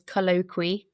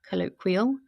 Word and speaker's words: Colloqwee: So um the so my business name is colloqui uh comes from colloquial and like about speaking but it's as you'll